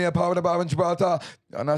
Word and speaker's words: Gibraltar: Gibraltar.